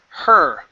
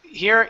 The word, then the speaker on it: her: So, here you were saying here. Okay. So, let's try this. Wasn't just her job. It was her calling. Wasn't just her job. It was your calling. Okay. So, you're still saying here instead of here. Okay. Remove that H. It's it's less less pressure. So, you don't want to say it's like it's a breath.